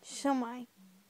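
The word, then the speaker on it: shwmae: But the proper way of saying the word is shumai. Shumai.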